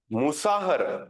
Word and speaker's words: मुसाहर: मुसाहर, MUSAHAR, मुसाहर लिखी ना spelling, MUSAHAR, मुसाहर, सहू, SAHU, सहू, साहू, सहू, जो भी आप बोलते हैं, वर्सेस हाकिम लाल।